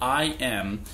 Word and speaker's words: EyeEm: It's called IM, but the I is spelled EYE, as in the anatomical part of your body, and the M is EM.